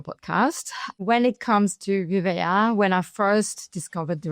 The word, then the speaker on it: Vivéa: What actually inspired you and your husband to take over Vivéa? Am I saying it right? Vivéa, right?